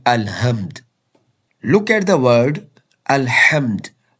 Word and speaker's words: الحمد: Look at the word Alhamd. Pronounced correctly from the middle of throat, it means all praise is for Allah.